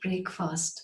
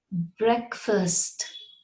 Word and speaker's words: breakfast: What I have heard is breakfast, but oh no, it isn't breakfast. You cannot break the words up like that and pronounce them separately. It is breakfast.